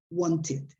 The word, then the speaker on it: wanted: with a d together so there is another way to do that that is wanted in that case you pronounce wanted yeah another example the